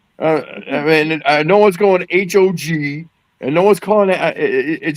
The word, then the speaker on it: HOG: I mean, no one's going H O G and no one's calling it should it should be pronounced how it looks.